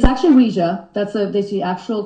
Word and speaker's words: Ouija: of Ouija now you say Ouija am I mispronouncing or is there some kind of terminology there I should know about it's actually Ouija that's the that's the actual correct way of saying it people say Ouiji and once in a while I'll say that